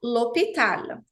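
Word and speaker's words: l'hôpital: preciso fazer a elision l o hospital mesma coisa profe mas o h é consoante sim mas aqui ele é mudo aqui o h é mudo portanto a elision também se faz necessária eu vou falar lopital profe Existe algum caso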